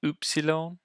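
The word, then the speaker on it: υ: we have an oopsilon it makes an oo sound so it's not like it's not quite like the English um U which would make kind of an uh sounds to make an e sound um kind of like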